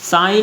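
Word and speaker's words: sign: साइन में क्या है साइलेंट, जी है।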